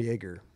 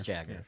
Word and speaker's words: Jagger: I call him Jaeger. I thought the J is silent. It is Jaeger, right? It is Jagger.